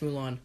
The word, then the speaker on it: Mulan: It's pronounced Mulan.